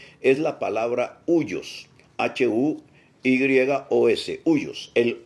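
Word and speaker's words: υἱός: Para eso, el término usado en el griego en el cual se escribe el Nuevo Testamento es la palabra huios, H-U-Y-O-S, huios, el huios.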